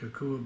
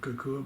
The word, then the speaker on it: Kokua: In this episode, I'll be talking with Brian Canevari about his work with Kokua Bikes USA.